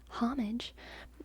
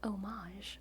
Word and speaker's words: homage: on the stage and I said homage and like no not a teacher no one ever told me I pronounced it wrong and it literally wasn't like until years later that finally someone was like we say omage omage and I was like